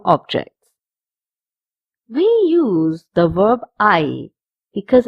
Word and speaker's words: hay: We use the verb I because it's a very important verb when we make a sentence.